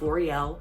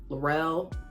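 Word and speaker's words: Loriel: It's L'Oreal, L-O-R-I-E-L. You would think Lori, L, you know, easy enough. L'Oreal, L'Oreal, Laurel, Lorelai, like I don't even know.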